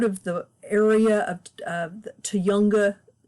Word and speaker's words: Tujunga: the area of uh to younger to younger Canyon that's apparently how it is pronounced or close to how it's pronounced it's from an indigenous word um I say not